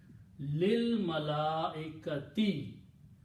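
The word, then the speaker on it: لِلْمَلَائِكَةِ: So the pronunciation will be lil. Don't pronounce this alif here. Don't even write this alif there. Lil malaikati, to the angels.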